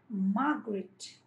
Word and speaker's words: Margaret: It is Margaret. So stress is on the first syllable.